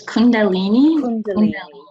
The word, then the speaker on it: Kundalini: Now, how do you pronounce that again? Kundalini. It's Kundalini.